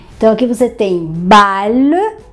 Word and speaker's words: bal: Você vai pronunciar como se fosse um L somente. Então, aqui você tem bal, bal.